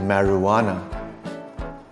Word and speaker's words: marijuana: J as in marijuana.